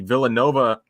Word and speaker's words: Villanova: Of course, the Villanova, that's how you pronounce it.